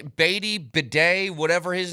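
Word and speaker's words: Badie: bedet excuse me but I saw a lot of people saying it's pronounced Beday and I was like I've never heard that once it's got to be batty anyway um I've liked him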